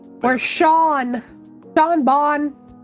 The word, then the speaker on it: Sean: Sean is an Irish name. That's why it's pronounced Shawn. That's different. Yeah, it's not seen because it's it's an Irish name.